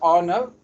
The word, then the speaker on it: Arnott: uh we asked Professor Arno and uh sorry if is it Aro or or do you is it a silent t uh the first T is silent but not the second one okay so so we